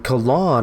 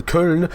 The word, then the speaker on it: Köln: And next we've got in Cologne, on Köln, depending on how you want to pronounce that, and it's September 28th.